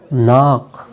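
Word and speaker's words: knock: beginning of over letter के जो है वो हमेशा साइलेंट होता है जब ये एन से पहले आता है और वट के शुरुआत में आता है जैसे कि नो नाइफ नॉलेज नाक नी इसके बाद हमारे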